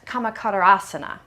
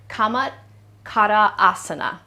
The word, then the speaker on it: Camatkarasana: It is in Sanskrit, it is pronounced Camatkarasana. So we're going to say, let me break that apart one more time. Camatkarasana.